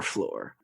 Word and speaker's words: Flore: you spell that Aaron that's lore with an F at the beginning so it sounds like floor but it's not the floor you're thinking because it's our floor we hope you enjoyed